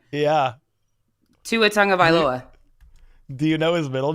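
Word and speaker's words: Tagovailoa: middle name too just his last name yeah Tu a Tong of aloa do you know his middle name no but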